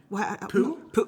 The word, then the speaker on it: Pugh: Pooh? How do you say her last name? Pugh. Okay, for Little Women. I think like Pugh instead of Pew.